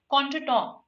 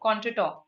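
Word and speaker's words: contretemps: means against contra and this temps here which is pronounced as to right this temps means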